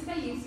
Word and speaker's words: Taisiya: My name is Taisiya. It's pronounced like Alicia with a T at the front.